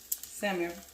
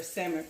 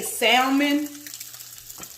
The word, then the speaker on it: salmon: It's not pronounced salmon. Don't do it ever again. If you've been doing it up until now, I'm giving you a pass, okay? But it is not salmon. The L is silent.